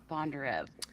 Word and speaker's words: Bondarev: Bondarev.